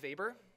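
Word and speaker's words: Weber: least we have Max vber even though his name has a w he's German so he pronounce the W as a v he was a German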